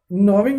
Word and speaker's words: gnawing: Gnawing at its ears, G is silent, gnawing, G is silent.